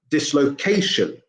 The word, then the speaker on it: dislocation: goes from dislocate to dislocation so suddenly the stress moves to the penultimate syllable the second to last syllable because the ending has